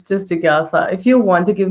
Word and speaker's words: Jigyasa: is Jigyasa. It's pretty easy. Like it's just Jigyasa.